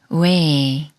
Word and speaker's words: 웨: 왜를 소리내려면 자음 이응이 소리가 없으므로 문의 우와 비슷한 우를 먼저 발음하고 에그의 에와 비슷한 에를 빠르게 붙여서 왜라고 소리냅니다. 왜, 왜, 왜. 웨딩의 왜와 비슷합니다.